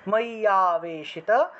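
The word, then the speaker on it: ময্যাবেশিত: আ হিসেবে উচ্চারিত হলো, এখানে আমরা যেহেতু ভেঙেছি, তাহলে ময়্যাবেশিত চেতসাম উচ্চারণ করলাম, একসাথে উচ্চারণ করতে হবে, কিন্তু এটা কিন্তু একটা অক্ষর, একটা শব্দ, ঠিক আছে? সেজন্য ময়্যা ময়্যা একসাথে উচ্চারণ করা লাগবে।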